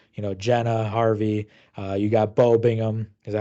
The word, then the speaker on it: Bingham: You got Bo Bingham. Is that how you pronounce his last name?